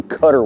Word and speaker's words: Cut-R: last couple of years is a Strike King cutter worm. It's spelled C-U-T-R-worm, and it's a really versatile worm.